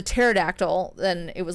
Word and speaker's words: pterodactyl: the green paradictal peridoctyl you don't pronounce t patera the pterodactyl then it was like